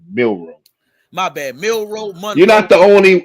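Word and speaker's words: Milroe: Jaylen Monroe and you waiting on discount double check. I'm How you How you a fan and get the kid name wrong? Jaylen Monroe. Milro.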